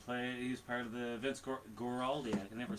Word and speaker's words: Vince Guaraldi: He's part of the Vince Guaraldi.